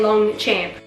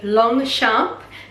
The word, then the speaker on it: Longchamp: You know, if you were to say to any Australian and you show them the word spelled out, how do you say this? They will just say Longchamp. I swear that's exactly what an Australian will say, so I'm trying to